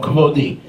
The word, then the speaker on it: kavodi: Panai, my faces, my face, and my glory, kavodi, or kavodi, is really the proper way to say it.